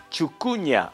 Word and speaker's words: chucuña: Chucuña, así tal cual está escrita la palabra, también es la pronunciación. Chucuña, acuclillarse.